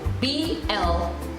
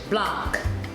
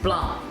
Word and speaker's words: Blanc: So B-L-A-N-C, we would say in English Blanc, but in French, the C is left out and it's pronounced Blanc, B-L-A-N, Blanc, but it's spelled with a C.